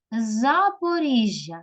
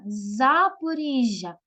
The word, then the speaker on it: Запоріжжя: України давайте з вами поставимо в цих словах наголос Вінниця Вінниця на Господа на перший склад на і Запоріжжя Запоріжжя Запоріжжя на Господа і знову Київ кличемо слово